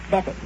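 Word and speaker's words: Beavan: I spell it B E A V- A N, but I pronounce it Bevon.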